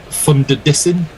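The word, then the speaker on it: van der Dussen: right let's just have a look and see where we are um uh chris um chris tv can pronounce it thunder dissin to rhyme with thunder listen um and mog just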